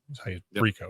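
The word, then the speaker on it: Rehkow: Rico is how you pronounce it.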